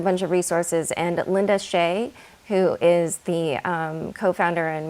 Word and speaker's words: Xie: they list a bunch of resources and linda shea who is the co-founder and managing partner at scalar capital her last name is spelled xie she does a lot of primers